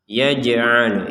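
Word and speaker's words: يجعلون: ber Jim berharakat sukun kita baca dengan pantulan yajal yaj yaj jadi jangan sekedar yaj yaj itu kan Tidak ada pantulan Mak ini harus dipantukan yajalun asiahumiim ada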